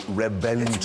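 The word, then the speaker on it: Reventón: No, no, Reventon. Revent. I can prove it. Look, it's got in there. It's got a V. Revventon. No, I know it's spelled with a V, but it's pronounced with a B.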